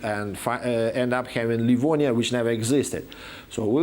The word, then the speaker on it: Livonia: known as livonians and we have no right to pronounce this toponym that way Livonia because it used to be spelled through an epsilon that means it's Livonia not Lavanya and in the primary chronicle